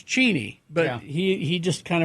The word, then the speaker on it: Cheney: Oh, I mean, Dick Cheney did. Yeah. Yeah. because he's cheateny because it's cheateny but he he just